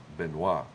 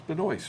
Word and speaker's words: Benoist: Benoit. No, Yes. it's Benoist, spell it. No. Well, the way you spell it, but now pronounce it right. Benoit.